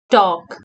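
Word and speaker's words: talk: के स्पीक उरा गर्नु टॉक टी ए एल के टॉक इस्मा पनी L silent T ए एल के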